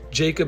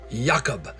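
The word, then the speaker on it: Jakob: even our host home Jacob and Mar actually to say it correctly I should say yakob they were incredible it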